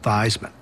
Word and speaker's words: Theismann: I said, no, my last name is pronounced Theismann." He said, "No, Joe, your last name is pronounced Theismann." He said, "Joe, I want to tell you something. There's a trophy out there called the Heisman Trophy.